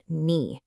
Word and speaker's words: に: Okay, first up, let's talk about knee. That's knee.